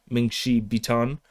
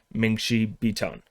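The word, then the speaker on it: 梦溪笔谈: the Dreampool Essays, or Mingxi Bitan, or Baitan. The way to pronounce that is kind of contested, so I'm just going Mingxi Bitan. That's that's what I'm sticking with.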